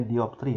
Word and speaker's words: dioptri: D ini dibacanya dioptri ya, satuan dari kuat lensa.